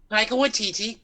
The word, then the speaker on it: Taika Waititi: I can never pronounce his name. Taika Waititi.